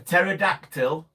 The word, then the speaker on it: pterodactyl: Why can't you hear Why can't you hear a pterodactyl go to the toilet? Cuz they don't go say cuz they don't exist anymore. Cuz they don't go toilet. Cuz of the silent P.